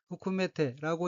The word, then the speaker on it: 含めて: 셋째 줄 오른편의 어휘는 한자가 먹음을 함자가 들어있고 일본어로는 후쿠메테라고 읽으며 후쿠메테는 포함시키다는 뜻의 타동사 쿠메루의 태형으로 포함해서라는 뜻입니다.